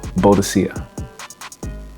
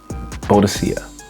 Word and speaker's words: Boadicea: So, we're going to stay in the house of Boadicea the Victorious. And yes, I'm going to say it again. I'm going to stress it again. It is pronounced Boadicea. Boadicea. Boadicea.